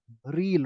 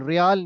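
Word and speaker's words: riel: रील, रियाल नहीं है, रील।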